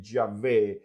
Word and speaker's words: Yahvé: Así que por todo esto, muchos afirman que la mejor manera de pronunciar el nombre con el cual Dios se le reveló a Moisés no es Jehová, sino que Yahvé.